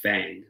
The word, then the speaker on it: Phang: can live on but it's called Fang that come and I thought that was really cool spelled with a pH and so I just